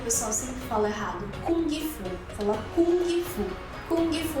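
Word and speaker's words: 功夫: Você não vai falar o G.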